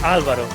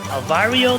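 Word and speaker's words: Álvaro: They called him everything but Alvaro. They called him Alvario. They had Alvaro, Alvaro. Because the R is really difficult for a lot of English speakers.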